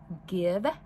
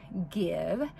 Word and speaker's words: GXVE: stefani's new makeup line give beauty or it is spelled g x v e beauty which i believe is pronounced give and so i ordered